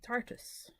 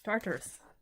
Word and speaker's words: Tartarus: And I've got it in the Achius, the Inamwai, and the Tartus. Or Tartarus. Yes, Tartarus. I'm going to be giving it Aileen a good chuckle with how I say things.